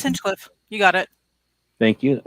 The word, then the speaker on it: Hinchcliffe: Yeah, it's Hinchcliffe.